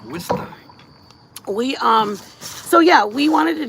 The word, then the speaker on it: Worcester: Worcester. That's how they say it over there. Worcester.